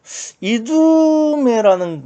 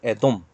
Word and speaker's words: 이두메: 이두메라는 거는 이제 헬라식 발음이고요. 히브리식 발음을 하면 에돔입니다. 에돔 하면 뭐가 생각납니까?